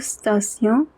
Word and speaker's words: station: Il coûte le même prix pour 12 stations que pour 10. Tion is pronounced as sion.